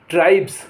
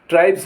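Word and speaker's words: tribes: वाई आदि आए तो इनके बाद लगे एस का उच्चारण जा होता है जैसे टी आर आई बीई एस ट्राइब्स ट्राइब्स माने जातियां बी ए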